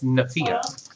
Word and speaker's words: Nephia: He's been pronouncing it this whole time, Nephia. I can't find it. It's Nephia.